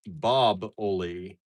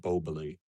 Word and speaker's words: Boboli: Um Susan says, "Actually, it's Boboli." There's an There's an old ska song that mentions Boboli, the finest name in pizza. Not Boboli? I've always pronounced it Bobbili.